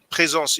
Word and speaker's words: Présence: Présence, it means basically presence. It's just a French way to pronounce it.